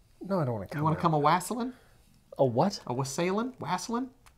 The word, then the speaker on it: wassailing: Oh, I'm shorting it to just the N. Okay. Wasslin'. Oh, wasslin'. You got to put the in front of it, too.